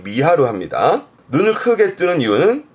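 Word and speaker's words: 見張る: 그래서 발음이 미하르. 뒷글자는 아까 확장의 장이기도 하니까 눈을 크게 확장하는, 즉 눈을 크게 뜨는 걸 미하루 합니다.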